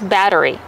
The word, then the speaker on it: battery: how do you pronounce battery battery battery the Double T changes to a fast D batter batter plus the r re and the long e sound like green beans battery battery Kevin what